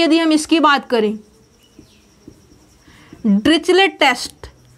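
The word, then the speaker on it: Dirichlet: बात करें डिरिचलेट test, तो यहाँ पे जो आपका प्रोनाउंसिएशन है वो क्या है? ड्रिकले। कुछ लोग यहाँ पे सम ऑथर्स इसको ड्रिकले बोलते हैं, बट जो हमारी हैबिट है वो ड्रिचलेट है, तो इसलिए हम इसको ड्रिचलेट बोलते हैं।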